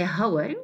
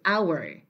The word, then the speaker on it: hour: Now, it is said that the H at the beginning of these words are not pronounced. So we don't say hour, we say hour, hour, and we say honest. Okay, so the H in these words is supposed to be silent.